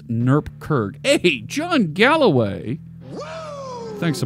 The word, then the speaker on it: NuGet: yes developers garage absolutely John Galloway says it's pronounced Newark Kirk hey John Galloway thanks